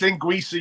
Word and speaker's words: linguiça: I actually tried his Portuguese linguiça sausages. One of my first Instagrams, I called them linguica, and I got panned. I got Portuguese friends on Facebook who was like, "It's linguiça, you dumbass."